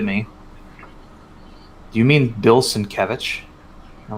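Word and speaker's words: Sienkiewicz: minneapolis as time earlier and i mentioned bill cinque wicks and they all kind of looked at me do you mean bill cinkevich i'm like oh is that how you pronounce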